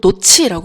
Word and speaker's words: 놓지: 우리가 놓지 이거 놓지라고 발음하지 않고 노치라고 발음하잖아요.